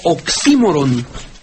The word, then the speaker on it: oxímoron: maestro lo reconoce como oximoron Bueno pues es el Precisamente es es la pronunciación correcta en griego oximoron oximoron Sí sí porque